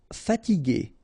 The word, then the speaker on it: fatigué: after i ensoleiller sûr talentueux final x not pronounc together tueux talentueux talentueux terrible, terrifié, fatigué remember when you combine this gu.